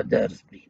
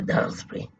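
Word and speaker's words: Daresbury: وكانت الطريق أن نذهب لمختبر في قرية اسمها دارسبري، أمريكي يرفضها دارسبري لكن هي دارسبري مثل كلارك أمريكا، كلارك إنجلترا، دارسبري هكذا تلفظ.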